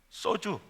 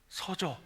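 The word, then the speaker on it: σῴζω: 참 헬라 읽기도 좋더라고요 써주 내가 발음을 잘못했어요 서조 동조가 아니고 서조이 말은 완전히 파괴되다 손상되다의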